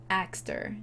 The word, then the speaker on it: Axtar: but or Farsi, but it's how I'm gonna say his name in a bit of an anglicized way.